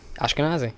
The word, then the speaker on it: Ashkenazi: Ashkenazi.